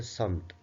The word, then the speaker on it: سمت: ایک کو ہم پڑھتے ہیں سمت جس کا صحیح تلفظ ہے سمت، اور دوسرا ہے صفت.